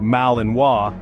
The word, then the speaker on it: Malinois: The Belgian Malinois, pronounced Malinois, is a breed that's often misunderstood and mistaken for its German cousin.